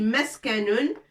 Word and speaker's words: مسكن: Ça, c'est darun ou meskanun. Ce qui nous intéresse, c'est les lettres qu'on a déjà vues. Dal, ra, mim, sin, kaf, nun, darun. On peut dire aussi meskanun.